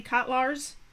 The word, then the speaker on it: Kotlars: we are joined coach am I pronouncing your last name correctly cutlars that is correct oh great coach kotlars